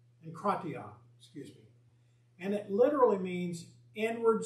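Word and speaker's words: ἐγκράτεια: And the word is pronounced enkratia.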